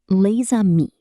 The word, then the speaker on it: les amis: But before a vowel, it is pronounced as a Z sound. Listen carefully. Les amis.